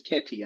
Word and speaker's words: Ketty: Her name is Ketty. Ketty. It's like Katie, but it's Ketty, I think. Ketty.